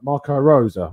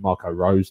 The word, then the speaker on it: Marco Rose: other Bundesliga podcast about Marco Rosa, which if you watched it, you realise that I mispronounced Marco Rosa's name about 50 times. I called him Marco Rose, like a typical Englishman that I am.